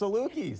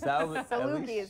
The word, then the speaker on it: Salukis: I don't know how to pronounce it. It's like the salt. I'm impressed. Salukis. Salukis.